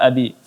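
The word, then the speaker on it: أَبِي: Ya, ini cara baca yada abi. Kemudian abi di sini mad tabi'i, maka dibaca 2 harakat. Tabbat yada abi. Abi, ya, ini takaran mad 2 harakat, tidak dibaca panjang lagi dan juga tidak dipendekkan.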